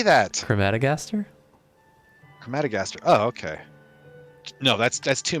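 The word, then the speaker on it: Crematogaster: Crematagaster? It's pretty good. Jeez. Holy, what? How do you actually say that? Crematagaster? Crematagaster. Oh, okay. No, that's too many syllables for me.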